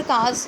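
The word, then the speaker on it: calf: अब देखिए यहाँ पर carbs, VES for plural of द काफ. ठीक है, यानी बछड़े, गाय के बछड़े को कहते हैं काफ. L साइलेंट है.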